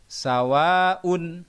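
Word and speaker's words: سَوَاءٌ: atau 6 harakat contoh sawa'un Nah itu sawah ada Alif mati-mati Thobi'i tapi di belakangnya ada Hamzah maka membacanya tidak boleh dua minimal dua setengah atau maksimal tiga Alif ke sawah untuk menjeda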